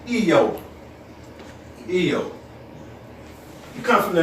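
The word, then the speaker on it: איוב: Job is pronounced in the Semitic tongue as Eo.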